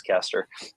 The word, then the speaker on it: Kester: Brady Kester it kind of looks like Coaster. So if you're typing that one up, pronounce Kester.